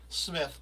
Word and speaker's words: Smyth: to let legendary broadcaster tommy smythe smith but it's spelled tommy go so i